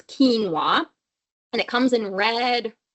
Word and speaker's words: quinoa: you also have quinoa so that's how we pronounce this word look like quinoa but it's quinoa and it comes in red white brown all